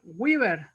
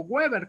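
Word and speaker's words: Weber: una unidad mucho mayor llamada weaver y se llama o webber como le quieran decir si muchos le pronuncian weaver y cuya equivalencia es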